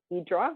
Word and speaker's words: Hydra: trip over to the island of idra which is spelled Hydra then we went across